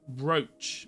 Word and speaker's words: brooch: Well, my sources are telling me it's pronounced brooch.